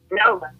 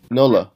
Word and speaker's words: NOLA: Is it NOLA? NOLA. NOLA. Okay, NOLA. Like you're saying New Orleans?